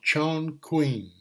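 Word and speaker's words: Chongqing: here right here is chin Queen I don't know how to pronounce it exactly but I'll show you the population there's there's no airplanes and no it's called Chong Queen Chon queen population thirty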